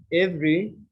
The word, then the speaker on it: every: Every. Different. Interesting. Vegetable. Vegetable. Vegetable. Please pay attention. Page 23. 3. Speaking naturally. Silent syllables. A. Listen and repeat the words. Notice that the unstressed vowels are not pronounced.